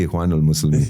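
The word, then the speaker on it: الإخوان المسلمين: एक चीज देखता हूँ कि ये मुस्लिम ब्रदरहुड, इख्वानुल मुस्लिमीन वाले हैं, they are threat to the West Asia also. You pronounce it absolutely correctly, इख्वानुल मुस्लिमीन.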